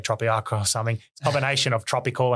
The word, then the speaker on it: Tropeaka: people to find either yourself um or or tropica where's the best place people can find you